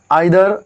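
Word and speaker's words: either: Next जो डे है हमारा 10th डे में हम क्या पढ़ने वाले हैं, ईच, एवरी, आइदर, नाइदर। इसे हम इधर नीदर भी प्रयोग कर सकते हैं, प्रोनाउंस कर सकते हैं।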